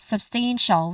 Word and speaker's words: substantial: All in all we get substantial. We have stun as the um as the how do you call it as as the um emphasized syllable here the stress syllable. So substantial. Again, substantial.